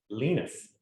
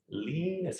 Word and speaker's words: Linus: And he basically says it depending on which language. He's in 3 different ways. But my favorite way is the actual Swedish way, which he is. And guess how you pronounce it? Linus. Linus. Are you catching that?